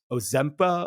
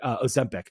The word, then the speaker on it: Ozempic: in a couple minutes, is this Ozempa or whatever that drug is. There's a great Ozempic. Yeah. I don't know why I can't pronounce it correctly. Ozempic.